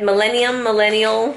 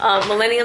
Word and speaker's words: Millennium: I always say it wrong. Betsy, Beth Penfold always makes fun of me. I'm like, what am I to say? I think I'm saying it right, but I'm not apparently.